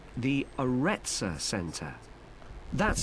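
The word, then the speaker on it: Arretsa: It's called the Aretsa Center. That's spelled A-R-R-E-T-S-A.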